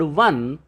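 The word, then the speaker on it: one: 1, although it begins with a vowel O, but when we pronounce this word 1, the initial sound is V, which is among the Hindi Vyanjan.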